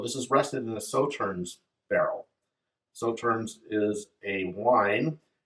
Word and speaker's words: Sauternes: The way it's spelled would have me pronounce it differently, but Sauternes is how they pronounce it. So this is rested in a Sauternes barrel.